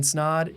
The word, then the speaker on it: Snod: Until then, my name is Snod. It rhymes with Zod and I'm out.